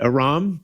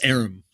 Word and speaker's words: Aram: Jesse Aram, thanks for coming back to Strike. Can we start that over? Uh, my name is pronounced Arum.